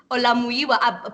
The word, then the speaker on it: Olamuyiwa: Olamuyiwa.